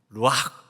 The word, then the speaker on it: 루아흐: 루아흐. 원래 이렇게 허스키하게 그렇게 발음을 해야 된다고 합니다. 루아흐.